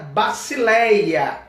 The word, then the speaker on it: basileia: Nós temos uma aula reino versus paraíso, e a palavra grega para reino, ela é pronunciada basileia, que significa reinado, domínio real, governo.